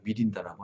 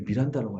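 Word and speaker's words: Mirinda: 그리고 히틀러가 독일인이 아니고 오스트리아인 이거는 뭐 아실 것 같고 환타 짝꿍 탄산음료는 미란다가 아니라 미린다라고 하네요. 미린다. 우리 미란다라고 알고 있었나요?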